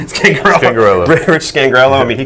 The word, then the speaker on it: Scangarello: How do you pronounce that? Scangarello? Scangarello.